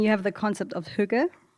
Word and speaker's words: hygge: happy people, and you have the concept of hygge, right? Hygge, did I pronounce that right?